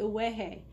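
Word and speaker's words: ʻUwehe: to learn a new hula move called the uehe it's spelled u-w-e-h-e lots of vowels i know it's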